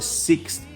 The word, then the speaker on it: sixth: Yang sixth tu sedikit mencabar sebab dia ada X dan bunyi macam S di belakang, kemudian nak tambah TH pula. Ejaannya S-I-X-T-H. So kalau nak praktis membunyikannya sixth, begitu ya.